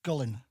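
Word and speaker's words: Gullane: a village sorry called gullen g l l n e and the E is silent okay everyone calls it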